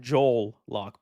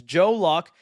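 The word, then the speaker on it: Joe Locke: lock right I know I was saying his name wrong the first time I talked about I was calling him Joel lock but it's Joe lock I've been seeing him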